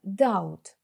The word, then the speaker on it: doubt: міс продовжуємо D сумніватися D літера B не вимовляється Doubt I don't Doubt his